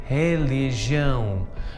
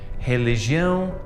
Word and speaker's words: religião: And notice that that R at the start of the word is pronounced like an H. This happens with all R's at the start of the word. It's exactly the same as the letter H in English.